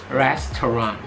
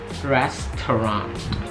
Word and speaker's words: restaurant: Jadi bukan restoran atau restaurant, tapi restaurant. Di sini juga ada 3 syllable. Restaurant, restaurant.